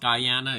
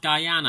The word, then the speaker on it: Guyana: got to gr na or is it Guyana well according to Bryan true pronunciation is definitely pronounced Guyana except for the whiskey Jana Jana I can see how someone will pronounce it but it's pronounced Guyana I don't know the